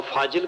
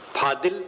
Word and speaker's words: फाजिल: फाजिल का अर्थ अतिरिक्त भी होता है और फाजिल का अर्थ विद्वान भी होता है। फाजिल, फादिल, जिसको अपभ्रंश में फादिल कहते, ये चीज फादिल है, शुद्ध शब्द है फाजिल।